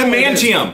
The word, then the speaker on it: adamantium: If you guys adamantium. Adamantium. You got an adamantium.